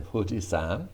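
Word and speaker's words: 富士山: hee hoo hey ho i told you that the who is often written with an f as in fujisan fujisan but the other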